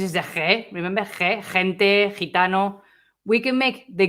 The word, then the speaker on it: gente: So, gente. Je. So this one, I'm going to make it like if it was Spanish J.